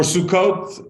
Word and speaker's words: Sukkot: the Jews left Egypt there's been a holiday called sukkas or Sukkot if you have a Sephardic pronunciation and for that many